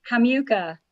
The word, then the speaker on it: Hamiwka: last name is pronounced hamucha the miw in the middle is like mew of a cat oh okay it's ukrainian